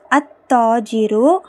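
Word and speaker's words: التاجر: நான் இங்க என்ன போட்டுருக்கேன்னா அத்தாஜிரு அத்தாஜிரு அத்தாஜிருன்னு போட்டுருந்தீங்கன்னா கவனிங்க தா வந்து ஷம்சியாவுடைய எழுத்து அப்ப லாம் உச்சரிக்கப்படக்கூடாது. அத்தாஜிரு.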